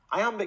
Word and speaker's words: iamb: about sound not spelling I Amba can't amateur may sound technical but there's an easy way to remember what it means the word I am is pronounced just like the phrase I am now let's expand that